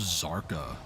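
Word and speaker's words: Kzarka: It's like how somebody once told me, it's pronounced Zarka. The K is silent. Oh, Kazarka?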